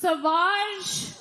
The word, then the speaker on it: Sauvage: Johnny Depp has a fragrance called Savage, pronounced Sauvage.